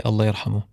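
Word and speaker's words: الله يرحمه: But I always say Allah yarhamu, which means may Allah bless his soul. I would try to pronounce that, but Allah yarhamu. Allah yarhamu.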